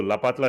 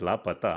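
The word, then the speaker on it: Laapataa: Oh, it's La Pata. La correct. Pata. Sorry. Pata means address. Don't know. La Pata. Yeah, unknown. Yeah. La Pata Ladies. What, really? Not La Pata.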